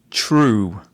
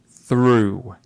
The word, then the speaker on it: through: True. I think she wanted to say through.